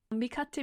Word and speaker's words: Mikatte: us mikaela who is how do you say the name of your your brand mikate music lovely yes and you are